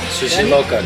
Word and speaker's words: Sushi Loca: Did I say it right? Sushi Loca. Correct.